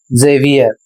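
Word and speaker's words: Xavier: अगला शब्द है एक्स ए वी आई ई आर और इसे पढ़ना है जेवियर और यह एक नाम है।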